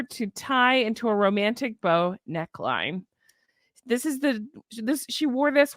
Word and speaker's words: Beau: It's called bow tie coat. Bow tie coat dress, but it's spelled Beau.